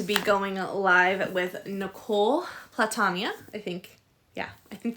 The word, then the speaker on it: Platania: so how do you say your last name platania platania okay mispronounced by everyone so that's okay I was